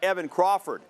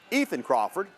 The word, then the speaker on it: Ethan Crawford: Early in the first quarter, Hillcrest quarterback Evan Crawford is going deep. Ethan Crawford. You guys watch that. We don't want to get Ethan's name wrong. It's Ethan Crawford.